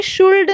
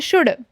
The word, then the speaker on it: should: अभी जो मोस्टेंट पार्ट है यह जो वर्ड है ना इसको बहुत सारे स्टूडेंट्स शुड कहते हैं। तो यह शुल्ड नहीं है। इसमें जो है एल साइलेंट है। तो हम इसे कहेंगे शुड ना कि शुल्ड।